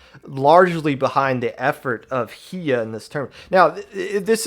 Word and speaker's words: Hiyah: It is spelled Hiyah. I believe it is pronounced Hiya.